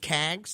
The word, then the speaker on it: CAGS: Is it just CAGS? Is that how you would just pronounce it? Yeah, that's what they call it, yeah.